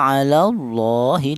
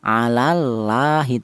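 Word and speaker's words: الله: Jadi lafal Allah ini cara bacanya ditebalkan alallah seperti itu. Tidak boleh dibaca tipis atau tarkik seperti contoh alallahi tidak boleh ya.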